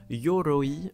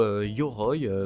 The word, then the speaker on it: Yoroi: absolument envie de parler, le teaser officiel de Yoroi ou Yoroy comme vous allez probablement le prononcer.